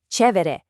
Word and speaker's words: chévere: Let's listen to those pronunciations. Chévere, chido, genial.